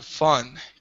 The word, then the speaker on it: Fan: is pronounced f f almost like fun yeah fun got it yeah to